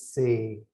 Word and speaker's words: ਸੇ: If you see this say with a la here, that's a long a sound. So you'll say this as say. If it was a sihari, you would say that's se, like this. Simrahe se, simrahe. Say is a long sound.